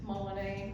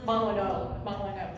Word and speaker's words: Molyneux: 5:30 to 7:30 at Rodrigue Molinet, I think that's how you say it, Winery. No? Molyneux, thank you.